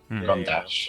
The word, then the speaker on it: Gondash: Gonorrhea. Gondash. That's how it's pronounced.